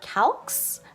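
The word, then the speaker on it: Calx: anyways next up is calcs I think is how you say it ca LX again just face and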